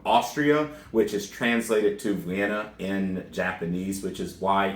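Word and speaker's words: Wien: which is translated to vienna in japanese which is why even though it's going to be spelled on screen as w-i-e-n her pronunciation will be vienna margaret so very interesting uh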